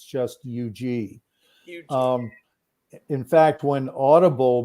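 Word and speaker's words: Huger: colombia they call that hugey street yeah yeah yeah okay hugh g street yeah i think they southernize it i think the h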